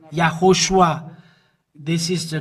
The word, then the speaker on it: Yahushua: uh name and it's from the the Jew yahushua is his name and this is the way to pronounce this but the Jesus wor is Jesus